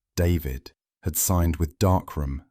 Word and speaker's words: D4vd: By the end of 2022, David Burke, now performing under the name D4D, pronounced David, had signed with Dark Room and Interscope Records.